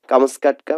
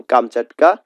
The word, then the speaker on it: কামচাটকা: বা রসকেও বোঝানো যায় কামসকাটকা মানে হচ্ছে প্রকৃত উচ্চারণ কামচাটকা যেটা রাশিয়ার অন্তর্গত সাইবেরিয়ার